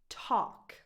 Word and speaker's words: talk: These 2 verbs have a silent L. Walk, talk. No L, none.